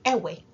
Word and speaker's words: Eʋe: have you heard of the ever people or perhaps you've heard their name pronounced ewe e-w-e who are they according